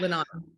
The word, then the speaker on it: Linan: Linan.